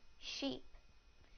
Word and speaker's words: sheep: the e sound in the word sheep sheep sheep now the I sound in the word ship ship ship now I will use